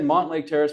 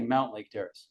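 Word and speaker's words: Mountlake Terrace: I've said Montlake Terrace my whole life. It's actually Mount Lake Terrace.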